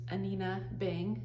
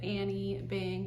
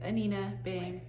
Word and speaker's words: Anine Bing: is behind it all and her name is pronounced anina Bing it looks like anine Bing or I've heard people pronounce it Annie Bing but it's anina bang let's start it off with this t-shirt it's